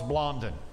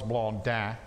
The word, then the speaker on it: Blondin: french dude named charles blondon okay now if he's french it's probably more like charles blonde but uh that's just weird i'm not gonna pronounce it that way so charles blondon the